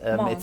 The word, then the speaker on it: Mons: No, it's a Mons. You can pronounce the S. Mons.